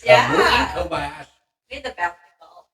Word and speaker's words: Kamui Kobayashi: I've got the pronunciation right here. Kamui Kobayashi. It's Kamui Kobayashi.